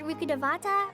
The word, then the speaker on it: Rukkhadevata: Are you referring to Greater Lord Rukkhadevata or Lesser Lord Kusanagi? Rukkhadevata, oh my god. That is a 5-syllable name, ladies and gentlemen. We're at 5 syllables.